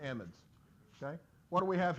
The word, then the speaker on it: amide: Now some people pronounce that amide or amide. We pronounce it amide because amide actually means something a little different, okay? But it's spelled exactly the same, and it can be confusing. So we're going to call them amides, okay?